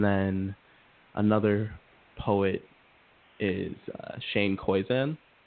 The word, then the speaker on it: Koyczan: And then another poet is Shane Koizan. How do you spell that?